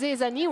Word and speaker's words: Zezani: Zezani, who also filled out my form and said that their name is actually for they, so ze, like the French pronunciation for they, and Zani, like Zany. like Zani on the, but it's because they always make it Zani on the track.